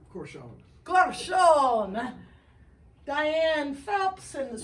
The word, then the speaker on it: Corcione: Angelus, and the way you pronounce the last name? Corcione.